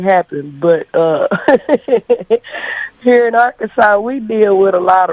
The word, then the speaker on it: Arkansas: kid because you know the way it's spelled A R K A N S A S and that little, you know, you break it down hooked on phonics. So, I was always like, our Kansas, you know, this and that in our Kansas.